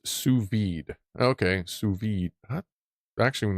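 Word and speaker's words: sous vide: Pronounced suvid.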